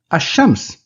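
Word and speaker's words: الشمس: and I will say finally Asam which means the sun in Asam the alphabet that follows the lamb in Al is also included in the sun letters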